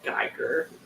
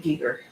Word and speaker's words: Giger: Sydney then you'll hit gerer gerer or was it Giger I've heard it pronounced both ways it's sort of that